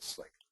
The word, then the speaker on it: CLiq: nice free license for slick um and hopefully you'll enjoy using it and remember the how to pronounce it's not cck it's slick U okay so Kelly's uh